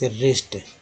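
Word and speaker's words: wrist: है तो डब्लू डब्लू को घृणित डबल को साइलेंट सकते हैं और यह रिस्ट रिस्ट बने खिलाड़ी होते हैं रिस्ट वॉच बोलते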